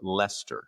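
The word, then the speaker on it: Leicester: Uh, I just wanted to confirm Adam is correct about the pronunciation of Lester.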